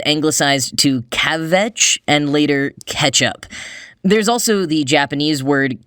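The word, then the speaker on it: kecap: fish and soy sauce cacao k-e-c-a-p actually pronounced ketchup mark kerlansky in his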